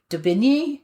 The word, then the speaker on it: d'Aubigny: So if you want to know, it's a French name, obviously. It's d'Aubigny.